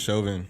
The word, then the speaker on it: Chauvin: I think it's Chauvin. Chauvin. Yeah. Like chauvinistic.